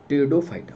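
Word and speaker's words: Pteridophyta: एक होता है टीरिडो, पी साइलेंट होता है, टीरिडो फाइटा। याद करिएगा।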